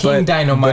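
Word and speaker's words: Dinomight: King Dynamite. But it's spelled Dino and then might, like might.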